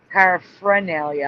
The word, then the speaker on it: paraphernalia: Yeah, it's like a ya, YA at the end for the LIA.